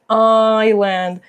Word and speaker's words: island: Island. Muy bien, se escribe así con la letra S, pero la letra S no se pronuncia, ¿ya?